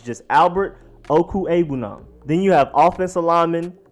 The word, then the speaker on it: Okwuegbunam: But his name is not that difficult to pronounce. It's just Albert Okwuegbunam.